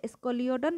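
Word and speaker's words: Scoliodon: যেমন আমি বলে দিচ্ছি, এস ক লিও ডন ল্যাটিকডাস, তাহলে স্কলিওডন ল্যাটিকডাস ভালো করে মুখস্থ করবা।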